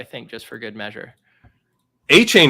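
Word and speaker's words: Achane: just for good measure a chain is right though and that's a fun way to pronounce that name a-c-h-a-chain it's pretty sweet Zach Evans boring name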